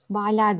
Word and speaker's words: Bala: Adın Bala diye mi telaffuz ediliyor? Bala diye, evet. Tamam.